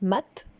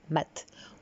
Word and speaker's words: Mat: veux parler du mat alors ça se prononce maths en tout cas dans l'ancien français c'était maths où le mât si vous